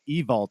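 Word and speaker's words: Ewald: Like I completely understand because my last name Evalt, the Hungarian way is E-W-A-L-D, and it's pronounced Evalt in Hungarian.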